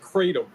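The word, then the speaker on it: kratom: the explosions very funny it is most widely pronounced katom but really I think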